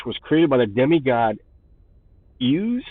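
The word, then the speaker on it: Iuz: created by the demigod hughes i believe is how you pronounce it iu z ooze is and uh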